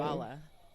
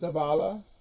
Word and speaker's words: Zabala: How do you It's pronounce your name? Zabala because Pamela's. Zabala?